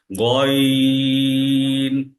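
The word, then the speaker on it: غين: পরবর্তী হরফ হচ্ছে গন গ এর সাউন্ড কিন্তু এটা হবে একটু খরকশ গ এর মত সাউন্ডটা উচ্চারণটা হবে গইন আচ্ছা আমাদের পরবর্তী পড়া আজকের পড়া হচ্ছে আইন এবং গইনের পরবর্তী হরফ সেটি হচ্ছে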